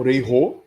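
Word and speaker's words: 礼: saudações novamente né o re né utilizem sempre os termos corretos e a pronúncia também né não é rei né Rei re né na língua japonesa quando a palavra começa com R no caso aqui é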